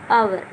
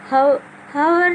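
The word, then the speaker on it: hour: जैसे आवर, अभी से हावर नहीं पढ़ेंगे, है नहीं पढ़ेंगे, आवर यानी कि घंटा, और इसको एयर पढ़ेंगे ना कि हेयर।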